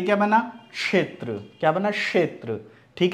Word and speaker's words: क्षेत्र: इसी तरह ये क्या बना, क्षेत्र, क्या बना, क्षेत्र। ठीक है, अब इसको क्षेत्र की जगह लोग क्या बोलते हैं, क्षेत्र। तो हमेशा ध्यान रखिए कि क और श का भी उच्चारण इसमें आता है।